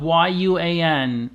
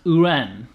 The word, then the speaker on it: yuan: in Chinese who run even though it's spelled y-u-a-n it's not pronounced Yuan it's pronounced uran and that's really hard